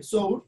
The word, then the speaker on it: sour: Se escribe sour, se pronuncia sour, que ahí es donde